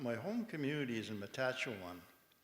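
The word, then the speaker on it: Matachewan: I come from my home community is in Matachuan. It's the furthest it's Madachuan is the way it's pronounced in our language and and the little town that we live in is called Squading.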